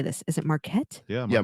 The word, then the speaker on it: Marquette: don't know how to say this is it Marquette yeah Marquette yeah number three Troy University oh okay wonder